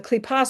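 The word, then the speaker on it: kippah: The kipa and the um evil inclination.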